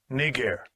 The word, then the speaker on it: Niger: This is the proper pronunciation. Strong's G 3526. Niger.